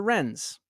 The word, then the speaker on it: Wrens: Women's Royal Naval Service, referred to as the Wrens, because you can pronounce that one.